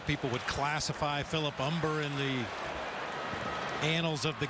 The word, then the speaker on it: Humber: mariana rivera the pitcher umber is on death don't pronounce that humber he's ready but